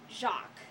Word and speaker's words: Jacques: like mispronouncing it and all but it's actually pronounced jacqu just letting you guys know now this level